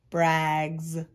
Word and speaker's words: brags: suffix s that's right sometimes suffix s can sound like a z brags let's mark it up